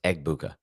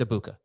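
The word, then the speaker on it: Egbuka: I'm not saying the G. I'm saying it right.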